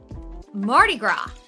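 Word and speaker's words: Mardi Gras: today is March 1st Marty gr right yeah that s is silent huh yeah yes like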